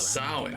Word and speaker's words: Samhain: Once at Samhain, she was to host a Oh, grand Samhain, banquet.